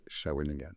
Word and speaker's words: Shawinigan: So it took me like 10 times to say it perfectly, Shawinigan.